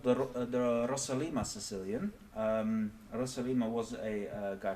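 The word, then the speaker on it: Rossolimo: This is called the Rosalima Sicilian. Rosalima was a guy from Russia, so I'm pronouncing it as though it were a Russian name.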